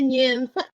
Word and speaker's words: Nghiem: Thalia Nghiem.